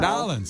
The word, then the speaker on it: New Orleans: Nolans.